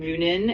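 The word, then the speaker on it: Muninn: That's why he said hoonin and moonin. Is that how you say it? Yeah, that's pretty close. It's pronounced hugan and moonin.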